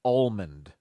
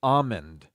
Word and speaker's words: almond: if this is right the incorrect way to say this is almond the correct way they're telling me to say this is almond without the L almond I've never done